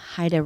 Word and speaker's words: HIDTA: the Colorado Rocky Mountain HIDA report HIDA is spelled HIDTA it's an acronym for high intensity drug trafficking area that's a mouthful the